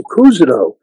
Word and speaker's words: Cousineau: because they don't know how to pronounce Cousineau. And then every once in a while, a receptionist will say, Mr. Cousineau. And I'll say, oh, you must have studied French.